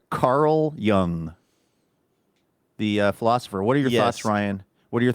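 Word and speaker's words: Carl Jung: I I just I think the joke here though is that young is pretty easy to pronounce because it's spelled phonetically whereas Carl Young is not spelled phonetically.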